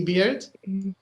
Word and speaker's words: bear: Can you see beard? EA, but it's pronounced beard.